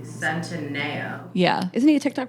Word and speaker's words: Centineo: Centino. No, it's not. It's like got an extra letter. I thought you pronounced it correctly. Centineo.